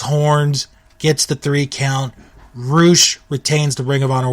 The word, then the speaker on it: Rush: main event and if you have not seen roou and it's spelled like rush but it's pronounced roou go